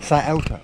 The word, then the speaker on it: Scioto: Scioto River. Am I saying that right? Scioto Scioto. Why do I say I don't know? Anyway, so maybe I've been mispronounced it all this time, but it's Scioto.